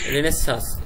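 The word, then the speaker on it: Renaissance: রেনেসান্স বানান রেনেসা, উচ্চারণ কিন্তু রেনেসা, কিন্তু বানান করার সময় বলবা রেনেসান্স, ঠিক আছে?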